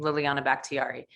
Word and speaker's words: Liliana Bakhtiari: right like so linkedin it's just my name liliana backtiari uh which is hard to spell so let me spell it out for you so l-i-l-i-a-n-a last name